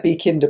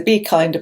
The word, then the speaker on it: B-Kinda: a be kinder box which is B hyphen k-i-n-d-a and I was a bit confused and mispronounced it for about half a video I was calling it a b Kinder box I think it's a b kinda box um it's run by